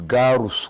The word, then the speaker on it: Garus: It's not Gaius, it's Garus.